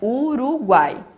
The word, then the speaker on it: Uruguai: A gente não separa Uruguai, né? Senão teria um acento no final e não tem. Então é Uruguai.